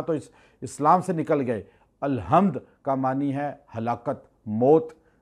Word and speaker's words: الحمد: حمد اللہ کے لیے۔ آپ کہتے ہیں الحمد، اکثر لوگ تلفظ ادا نہیں کرتے، ہا نہیں کہتے، ہے کہہ دیتے ہیں الحمدللہ، اس کا معنی چینج